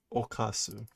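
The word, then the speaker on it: 犯す: to be um what is how do you pronounce that I guess we have another candidate to add to the list to do okasu right okasu okay that's grade five I definitely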